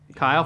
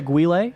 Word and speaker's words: Guile: Kyle Flat Top. Guile. Guile. I was like, who's Kyle? You'd pronounce it Guile.